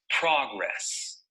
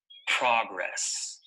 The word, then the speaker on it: progress: of this word is progress notice that the stress is on the first syllable progress progress here are a few